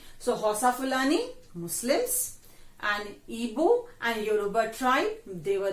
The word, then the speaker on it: Igbo: You can find it Igbo, but it's pronounced as Igbo.